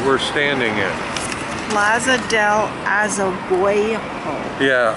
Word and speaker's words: Azoguejo: Plaza del Azoguejo. Yeah, Azoguejo. A-Z-O-G-U-E-J-O. This is the Plaza Azoguejo.